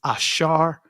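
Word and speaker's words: אשר: The ancient Hebrew pronunciation of this word is ashar.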